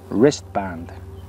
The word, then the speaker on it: wristband: Observa que la W de wristband es muda, no se pronuncia. Decimos wristband.